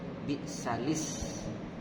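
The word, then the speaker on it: بئس الاسم: Kalau bacanya wasol itu bi'salis. Jadi kasrah lam, bi'salis ismul fusuqu ba'dal iman.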